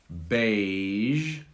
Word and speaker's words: beige: difficult one and finally beige base beige this is difficult the g is soft and the ys produces a z so this g soft g and the z sound a little bit similar beige bays beige can